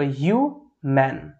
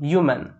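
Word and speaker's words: human: এখানে আমরা ইউর উচ্চারণটা ইউর মতনই পাচ্ছি। তো ইউ ম্যান শব্দটা কিন্তু আমাদের করেক্ট হলো, ইউ ম্যান।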